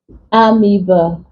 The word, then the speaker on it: amoeba: example we have fetus the o e here is for the long e sound fetus amoeba estrogen okay Oedipus from